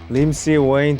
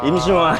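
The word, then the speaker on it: 임시완: Lim Si-wayne changed my life. -Lim Si-wayne? -Lim Si-wayne. [HIS NICKNAME FOR SI-WAN] -A hip-hop way of saying my name. -Yim Si-wan. Lim Si-wayne.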